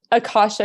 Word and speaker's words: Akasha: was it I'm sorry you're gonna have to pronounce the name for me because I'm yes Akasha superfoods Akasha superfoods so how did how did